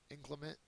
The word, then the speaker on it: inclement: next one is inclement inclement is a an adjective excuse me it's the second syllable is accented it means stormy harsh